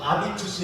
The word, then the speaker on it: habitus: 변아 가게 된 거예요 프랑스에서는 무음이에요 발음을 안 해요 그래서 이거 없다고 치면 아비투스 그래요 아비투스는 제 2의